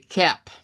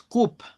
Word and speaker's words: cup: Entonces, aquí estamos en presencia de cap, no es coop, porque si usted dice cup, está sacando esto y no corresponde ese sonido.